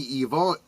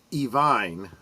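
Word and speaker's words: Iovine: In 1984, Stevie Nicks, love Stevie Nicks, and her producer, Jimmy Evine, I think I'm pronouncing this correctly, Evine, I believe is how it's pronounced. I may be wrong.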